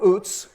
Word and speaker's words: Uz: a man in the land of oots which is the proper pronunciation of that i've gone years calling it uz and discovered this week that actually in hebrew it's oots whose name was job